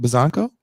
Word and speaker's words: Buzzanco: Is it Buzzanco? Yeah. It's actually the correct way to say it.